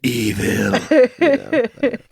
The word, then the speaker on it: Evel: Evil. I know it's EVEL, everybody.